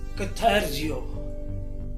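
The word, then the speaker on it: καθαρίζω: Bracket में कथा रीजो, जबकि प्रोनाउंसिएशन में है कथैरजियो।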